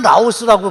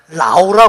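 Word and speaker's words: Laos: 거예요 왜 그런가 봤더니 l a o 이게 라우스 아아 그게 우리는 라스라 읽지요 근데 그들 자신은 맨 마지막에 있는를 무음이라 그래 가지고 발음을 안 한대요 그래서 그냥 라오라 그래요 프랑스의 파리도 par 잖아요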